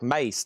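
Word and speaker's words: Mase: Massey is pronounced like Mace.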